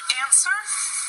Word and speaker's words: answer: And one thing I'd like to point out, answer. There's one letter that's silent. What is the silent letter? W. Right. So when we say it, we say answer.